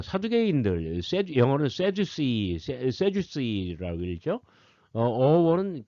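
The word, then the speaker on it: Sadducees: 자, 사두개인들, 영어는 세주스이라고 읽죠.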